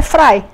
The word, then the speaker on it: Frei: com a palavra Frei quem alemão é Fry né em alemão é se pronunciar então para quem não